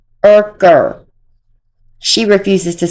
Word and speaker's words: Urker: Just like she refuses to say Ken Urker, it's Yerker. Even though Ken's dad is online saying his name, saying it is pronounced Urker, she refuses to say it.